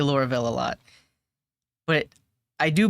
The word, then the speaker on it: Laravel: trying PHP and laravale I was going to say Laurel but I think it's pronounced laravel um this is going